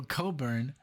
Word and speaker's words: Cockburn: said um you know you know how I pronounced it so Coburn um Bruce Coburn with waiting for a miracle from the album waiting for a miracle and this is from also 1987.